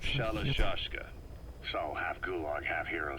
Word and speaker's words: Shalashaska: have known about that because somewhere along the line shashka got stuck on the end of shashka the gorillas were using the name amongst themselves by the time I got to hearing about it pronunciation had wound up as shalashaska so half gulg half